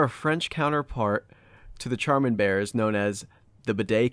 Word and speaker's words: Charmin: Charmin, Josh. Yeah. Why is it spelled like that if they're going to pronounce it like that?